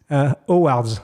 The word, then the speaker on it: Howard's: How you would pronounce it? We say Howard's. Howard's in Paris, very famous for ties and accessories. How do you say it? How do you say Howard's? Howard's in French. Oh, wow, okay. I didn't know you silenced the H.